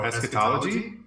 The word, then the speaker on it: eschatology: do you say this word he's like oh eschatology like that's it nice so to bring us